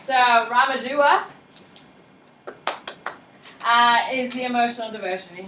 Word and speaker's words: Ramanuja: Ramajua. Ramajua?